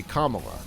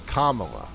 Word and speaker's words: Kamala: It's supposed to be, I think how she says it, think of caramel, right? Like caramel? Like it's supposed to be Kamala. The wrong way is Kamala, like Kamala.